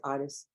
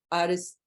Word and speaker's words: Addis: That's Addis. So I started pronouncing it the way they do. Addis.